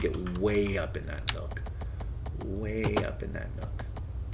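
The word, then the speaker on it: Nuuk: in uuk Nook and they actually pronounce it with like two syllables Nook Nook um but I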